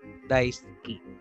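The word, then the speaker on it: 大好き: So, yung pronunciation dito pwede pong gamitin as daisuki. Daisuki. No? Ski, daisuki. Ski, daisuki. Okay ha?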